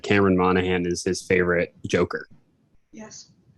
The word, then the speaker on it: Monaghan: Oh, Cameron Monaghan? Yeah, Monaghan. That's how you say it.